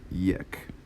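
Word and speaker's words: یک: this next one is yech around the Persian spelling as well as the English fine let's redo that that's a little too close it's pronounced like yech like a yak but a yak and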